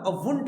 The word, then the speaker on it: won't: Want नहीं होता, won't होता है. That's not want. Want. That's won't.